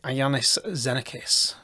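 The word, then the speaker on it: Iannis Xenakis: name here but um i think it's pronounced like iannis zenicus in around 1960 but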